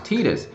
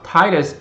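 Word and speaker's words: Tidus: actually announced that Titus, which for some reason they like to pronounce Titus. The only reason I could think of that is because I is actually pronounced E in Japanese, and I think they wanted to go with the idea that they wanted to stick with the Japanese pronunciation.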